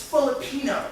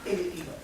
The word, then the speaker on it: Filipino: So it's Filipino, it's not Filipino.